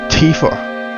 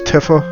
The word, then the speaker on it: Tifa: her name multiple ways I believe the proper pronunciation once I heard the demo of the remake was Tifa like Wiz Khalifa but Tifa but I have always read it as Tiffa or whatever stupid reason